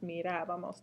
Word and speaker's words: mirábamos: Notice the accent on the nosotros form, and don't forget that it's the syllable that comes before the B. That's where you put the emphasis. So parábamos, mirábamos, trabajábamos.